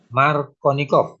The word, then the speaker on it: Markovnikov: Jadi tulisannya ini tapi bacanya supaya tidak kangelan. Markovnikov.